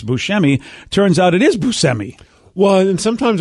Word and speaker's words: Buscemi: and it turns out we've been saying steve buscemi's last name wrong all these years uh and i said it wrong so you'd know who i'm talking about his name i guess is busemi which is which by